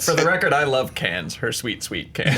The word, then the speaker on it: Cannes: out this weekend debuted Cannes May 16th always always if they didn't want to say an S they wouldn't put an S there Dan I wouldn't tell